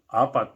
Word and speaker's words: apat: of the way it's spelled? Apat? Yeah. Apat is A-P-A-T.